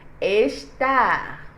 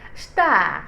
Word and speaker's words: estar: ES ne se prononce, le E ne se prononce pas. Alors, on ne dit pas estar, on dit star.